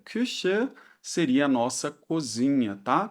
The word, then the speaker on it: Küche: Cuidado aqui, atenção para a pronúncia aqui do U, que é o U com trema, né? A gente faz a boca do U e pronuncia algo como se fosse o I, né? Mas não é I.